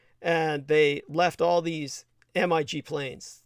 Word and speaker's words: MiG: they left all these mig planes they call them migs of course they don't pronounce the full acronym uh they removed what